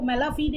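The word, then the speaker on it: mala fide: इसका right pronunciation जो होता है वो मेला फीडे होता है, राइट।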